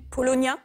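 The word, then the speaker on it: Paulownia: Polonia, c'est écrit P-A-U-L-O-W-N-I-A.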